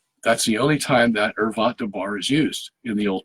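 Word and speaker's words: ערות דבר: you some Hebrew here, the way it's pronounced in Hebrew, for an ervat dabar. Okay, for an ervat dabar.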